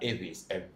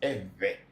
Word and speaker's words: Ewe: But because a lot of people cannot pronounce the V, so it becomes we like Ewe. People say Ewe. It is not Ewe, it's Ewe. And then some people even cannot say Ewe, they say Eve.